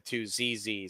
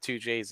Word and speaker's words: 2ZZ: Toyota MR2 had a 2zz so it's not 2jayz it's 2z it's the same engine